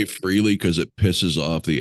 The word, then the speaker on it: Frehley: freely because it pisses off the Ace diehards. It is Fraley, and I get it in every comment. It's Fraley. It's pronounced Fraley.